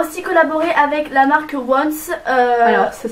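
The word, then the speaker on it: Yoins: Donc ensuite on a aussi collaboré avec la marque Once. Alors ça s'écrit Y, voilà.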